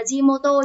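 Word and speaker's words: 地元: đúng không của jimoto từ này chúng mình đọc là jimoto nhá và đấy cách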